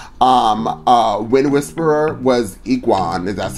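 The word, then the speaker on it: Egwene: here was matt um uh win whisperer was iguan and that's how you say her name ultimate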